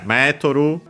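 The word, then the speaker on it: メートル: Because, yeah, Metoru, actually unaccented, okay.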